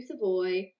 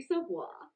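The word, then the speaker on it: Savoie: gautier frank nazar joaquim camel jonathan lacaramacki matthew savoy oh oh damn i got caught moving i keep saying his name wrong uh matthew savoir man we'll see we'll see uh daniela michael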